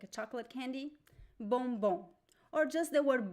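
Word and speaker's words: bombom: m b o m but we do not pronounce the M it's not bom nope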